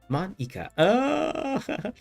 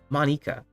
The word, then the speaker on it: Monika: your name Monika Monika that's not how you say my name at all Monika Monika also that jokes